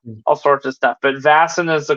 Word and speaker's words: Vaesen: you know um all sorts of stuff but vason is the correct pronunciation and that is how it will continue to to say it so um now vasen in um Sweden is kind of like a